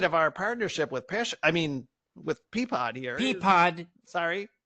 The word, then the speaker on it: Peapod: And It's pronounced Peapod.